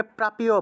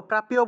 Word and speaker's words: প্রাপ্য: খাগো ভুজম প্রাপ্য প্রাপ্য অনেকে প্রাপীয় প্রাপ্যয় বলে ফেলেন প্রাপ্যয় হবে না প্রাপ্য প্রাপ্য একসাথে প এর